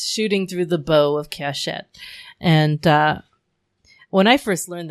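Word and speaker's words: קשת: And if you put those three together, you pronounce them Keshet, which means bow.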